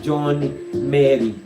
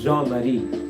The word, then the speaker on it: Jean-Marie: Okay, some people pronounce that name as John Mary. Okay, I know that he pronounces it as Jean-Marie. Okay, John Mary. Okay, depending on how you pronounce it in your own dialect.